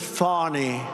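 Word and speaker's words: Fani: to apologize to Fanny it's F ni she pronounces it fny f i don't see it to me it's Fanny the very first bill that crooked Joe sent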